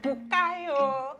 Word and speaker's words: Bukayo: forgotten his name, but he'll always be like, Bukayo! And like, that's how it's said, that is a Yoruba name, right?